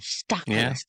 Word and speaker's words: Stacklist: Am I even pronouncing it? Stock list.